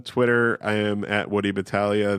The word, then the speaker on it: Battaglia: I am at woody Battaglia that's woody ba t ta g Li a get the silent G there and my podcast is